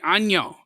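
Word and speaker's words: 안녕: Annyeong. If you guys have something that you want me to do that doesn't affect the community, help people and connect more people, annyeong. Yeah, that's exactly how you say it.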